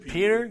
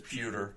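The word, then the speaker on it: Petr: Is it Peter? It's Pewter.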